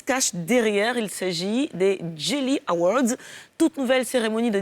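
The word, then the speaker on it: Djayli: Jelly comme grio tout simplement. Voilà, c'est vrai que ça s'écrit D J A Y L I pour que les anglophones puissent le lire correctement, mais Jelly parce que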